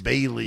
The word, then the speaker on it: Bailey's: Lauren keeps calling it Bally's. No, it's Bailey's. Yeah, it's Bailey's.